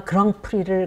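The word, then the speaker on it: grand prix: 때 아 그 배우가 그랑프리를 거머쥔 얘기하는 그 그랑프리가 불어 에서 옹 거고요 프랑스어의 정확한 발음은 거 크기입니다 검은 그랜드 크다는 뜻이고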